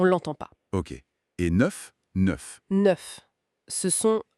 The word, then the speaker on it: neuf: Et neuf neuf neuf ce sont e. C'est un peu comme dans de mais plus ouvert.